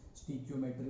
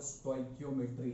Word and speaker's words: stoichiometry: कुछ लोग इसको स्टोइक्योमेट्री बोलते हैं, कुछ लोग इसको स्टीक्योमेट्री बोलते हैं। ठीक है, जो करेक्ट प्रोनाउंसिएशन है वो स्टोइक्योमेट्री है।